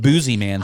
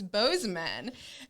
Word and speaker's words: Bozeman: i'm just like me i think boozy man sounds cooler i don't know if that's really how you say it and then cole's like no i'm from there it's it's bozeman and the next thing